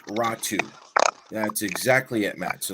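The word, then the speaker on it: Räty: and yes it is spelled r-a-t-y it is pronounced ratu that's exactly it Matt so that's that's how it's done yes raw two so um I I really love do four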